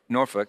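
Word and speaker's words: Norfolk: a a flight in norfol norfol I think that's how you say it norfol Virginia uh he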